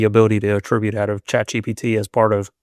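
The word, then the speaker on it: ChatGPT: Other people are just like what is the chat GTP? I've heard that one a lot. GTP and I'm like, you don't even say it right.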